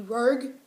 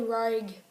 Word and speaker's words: Rogue: ah I've been saying it wrong my entire life it's actually reg reg it's actually raid sorry got it rolls